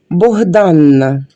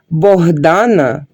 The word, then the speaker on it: Богдана: буде на березі річки жіноче ім'я Богданна і вимовляти і писати з двома літерами це неправильно Богдана пишеться з однією літерою сочне яблуко це також